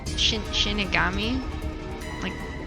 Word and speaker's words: Shinigami: Shinigami?